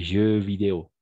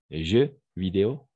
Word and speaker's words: jeux vidéo: Les jeux vidéo. D'accord? Jeux vidéo. On prononce de la même façon au singulier et au pluriel.